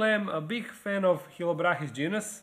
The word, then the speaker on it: Chilobrachys: a big fan of Chilobrachys genus, or as Americans like to pronounce it, Chilobrachys.